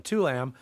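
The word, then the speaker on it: Tô Lâm: It's spelled TOLAM, Tulam, as president, shifting toward a power structure similar to China.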